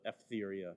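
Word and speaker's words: Etheria: Sometimes we see her name spelled Egeria. I prefer the Ephtheria pronunciation of her name.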